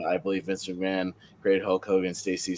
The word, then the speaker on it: Hulk Hogan: ] this is but her Hulk Hulan is the strangest way to pronounce Hulk Hogan I've ever heard uh but yeah this